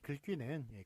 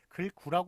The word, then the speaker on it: 글귀: 그래서 좀 다 같이 통일했으면 좋았을 텐데 하여간 글귀는 글귀로 그렇게 글귀를 워낙 사람들이 많이 사용하고 글구라고 그러면 좀 더 이상하죠. 약간 이상하긴 하죠. 그래서 글귀만 그렇게 귀글과 글귀만 귀라고 읽는 것을 맞게 하였습니다.